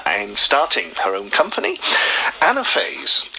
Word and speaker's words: Anaphase: starting her own company anaphase yes that's the right way of pronouncing it that's right yeah all